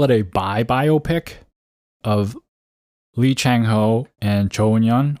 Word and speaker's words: Lee Chang-ho: I would call it a biopic of Lee Chang-ho and Hun-hyun, or Lee Chang-ho, as you would pronounce in Korean, who are legendary Go players.